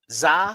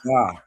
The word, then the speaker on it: Zah: And and as uh Naj said, it's pronounced like pizza. Zah. Zah. Zah.